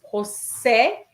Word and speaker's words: procès: Yes, procès. It's E accent grave, so you open your mouth.